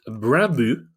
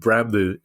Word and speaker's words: Brøndby: And finally, Kieran, a new study has found that Brandbu is the best run club in Europe.